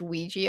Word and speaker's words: Ouija: Okay, but I thought it was actually like Alja for the longest time. Because Same. I like, it's spelled like that. When I heard that was pronounced Ouija, I was like, but it doesn't fucking.